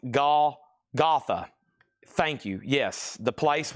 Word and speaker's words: Golgotha: It's pronounced Golgotha. Thank you. Yes, the place where Jesus Christ was crucified. Golgotha.